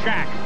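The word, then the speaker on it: Shaq: I think that'll rename it the Shack, because that's where he hangs out. How do you spell that? S-H-A-Q. Shack.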